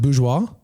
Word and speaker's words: Bourgeois: So Jules Bourgeois, how do you say your last name, Jules? I know it's not Bourgeois. You said it right. I did? Your last name is pronounced Bourgeois? Yeah.